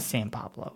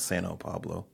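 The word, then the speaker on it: São Paulo: Is it San? How do you say it? San Pablo. S-A-O? That's not San Pablo, is it? S-A-O? It's San Pablo. It's not Sano Pablo.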